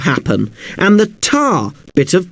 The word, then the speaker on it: happen: The stress is on the hap bit of happen and the tar bit of target.